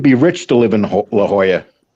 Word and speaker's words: La Jolla: rich to live in la jolla i hate the way they spell it man it's spelled la jala all right la jala but they call it la jolla oh if i went